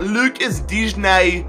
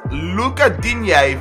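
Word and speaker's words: Lucas Digne: research on his name it's not Lucas D it is Luca D from what I've been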